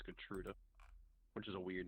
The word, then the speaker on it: Gertruda: Gertrude. I think it's actually Gertruda because there's an A at the end. I can type it. There you go. Gertruda. I think it's Gertruda, which is a weird name, but yeah, Gertruda.